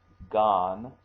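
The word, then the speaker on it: 眼: means actually eyeball and also can be pronounced Gan okay some of you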